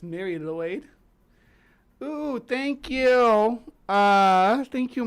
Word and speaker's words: Mari Lwyd: I think the lady we're looking at today calls it Mary Lwyd, but it's Mary Lloyd.